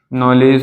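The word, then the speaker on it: knowledge: ठीक है, नॉलेज हो जाएगा हमारा, जैसे नॉलेज, नॉलेज मीन्स क्या होता है, जानकारी।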